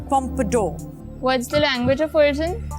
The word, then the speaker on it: pompadour: points is Pompidou Pompidou that is correct it's pronounced pompadour what's the language of origin French the meaning